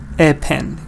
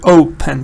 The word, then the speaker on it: open: Sahara open because oh you don't say a pen say open like like really strong sound open the cinema was